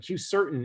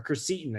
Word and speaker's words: quercetin: That and probably I'm kind of murder the pronunciation of this, but Q-certain is another one, or quercetin, I think is how you pronounce it.